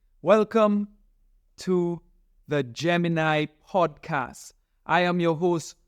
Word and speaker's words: Gem-In-I: that we can grow the Gemini I came up with the name Gemini podcast not only because I'm a Gemini baby but the word Gemini I has three syllables